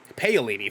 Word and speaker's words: Paolini: the series would be based on the christopher paolini i think is how you pronounce it pale lady thank you garrick a young adult novel series